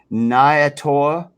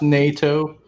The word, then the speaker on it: nato: So the body is made out of how do you pronounce this, Dave? Nyato. It's NATO. It's pronounced NATO.